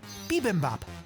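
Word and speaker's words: bibimbap: Bimbop.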